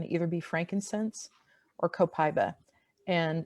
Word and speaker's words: copaiba: either be frankincense or copaiba and it's it's spelled co Pai BA it's actually pronounced I guess in most countries where it's grown copaiba but copaiba is easier and those would be